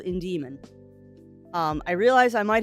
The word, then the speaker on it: Indemon: and looked at it it sounded like I was saying in Demon but it's in Demon I'm putting the emphasis on the wrong salable so I have uh tried very hard to make sure that I am putting the emphasis on the correct salable now so instead of it being IND demon it is in Demon how's I'm being weird